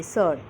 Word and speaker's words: surd: S-U-R-D, surd. Its pronunciation is surd.